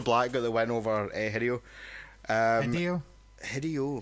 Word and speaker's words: Hideo: It's Hideo. I'm going to stand up for that. That's fucking weird American pronunciation.